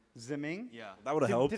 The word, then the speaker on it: Ziming: it's Zeming. Ziming?